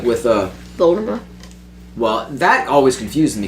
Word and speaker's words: Voldemort: It's gonna be silent.